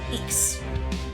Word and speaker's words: Zisks: Aryan Hood Zisks, the Z is silent. So, Aryan Hood Eeks.